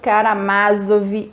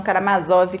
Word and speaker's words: Karamázov: Eu li essa edição aqui da editora de Ouro e é por isso que eu pronuncio Karamazov e não Karamazov, como algumas pessoas, e provavelmente é por